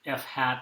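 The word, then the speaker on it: f̂: So the F here and the Y have little circumflexes or carets over them that are pronounced hat in the kind of disciplines that use this notation. So we say that f hat is an estimate of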